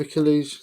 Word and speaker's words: Achilles: 54 the song of aquila's achilles the song of achilles that's how you say it isn't it this is by